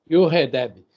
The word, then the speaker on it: Jochedeb: Eu sei que é Jochedeb. A pronúncia é com I, não existe J, né? Yoredeb, porque o CH também é som de R de carro.